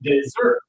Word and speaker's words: dessert: It's the strong syllable at first or the strong later. So, let's try this one again. Everyone deserts. and dessert. Yeah, obviously in a restaurant you want to use this one here.